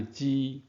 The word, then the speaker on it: 仔: 部解说，只有两个读音，上声的子，平声的之，意思只有一个客业、人业。